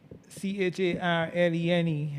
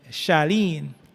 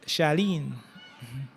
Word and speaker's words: Charlene: So you have a name C H A R L E N E and it is not pronounced cha Charlene but Shalene.